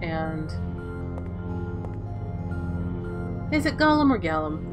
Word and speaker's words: golem: Ulysseal had their own golems, and is it Gollum or Gallum? It's Gollum. Well, I pronounce it Gollum anyway.